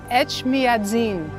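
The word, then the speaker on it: Etchmiadzin: say the name of the cathedral H madin H madzin yes yes okay I heard it was almost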